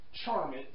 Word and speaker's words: Charmx: He goes by Charmx, like it has the IX at the end, but it just has the letter X at the end.